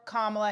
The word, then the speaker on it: Kamala: Kamala, and I'm calling you Kamala because for all of those who are mispronouncing it, I want you all to know how to say it.